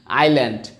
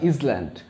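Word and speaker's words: island: not honey means Madhu আইল্যান্ড আই এর পরে এস আছে দ্যাট ইজ নট ইসল্যান্ড তোমরা অনেকে ইসল্যান্ড উচ্চারণ করো that's a totally wrong pronunciation that is আইল্যান্ড ওকে তারপরে আমাদের আছে জুট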